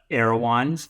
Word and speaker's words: Erewhon: say that spend the next one it's the aans for all the West Coast people who know